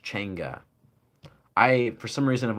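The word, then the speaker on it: changa: It's said spelled ch h a um a n g a pronounced chenga. I for some reason I've always called it chonga, but it's pronounced chgaa and it's spelled ch h a n g-a.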